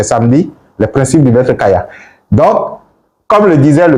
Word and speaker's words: Kaya: Donc, on dira tout simplement que, comme le dit le maître Kayas, un maître que j'admire beaucoup dans le maître Kaya, mais Kayas.